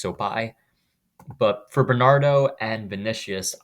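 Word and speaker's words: Sopaj: Um, it's spelled with a J on Tapology, but I think it's pronounced Sopai.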